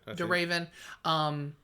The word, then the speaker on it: Emily de Ravin: Yeah, it's Emily de Ravine. How do you ever say her name? De Raven.